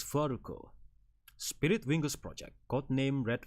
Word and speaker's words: Falco: And below it is my title in katakana, the fu, okay, the letter fu, little a, ru, and ko, Falco. It can be pronounced as Falco.